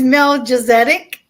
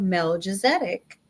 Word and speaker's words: Melchizedek: Some people pronounce it Melchizedek. I pronounce it Melchizedek because that's what they say on Google.